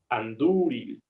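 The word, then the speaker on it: Andúril: toque profesor y y anduril o anduril Ah ahí la u es larga la u es larga anduril Entonces cumple la primera de nuestras reglas vocal larga ahí enfatizamos anduril anduril Perfecto perfecto muy bien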